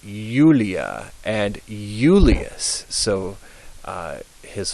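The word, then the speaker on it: Iulia: pronounce those words now if the letter i begins a word and the next letter is also a vowel then the I is pronounced like a y um if it's if it's followed by a consonant it's just pronounced I but if it's followed by a vowel it's pronounced y so yunia and Yulia and Julius so uh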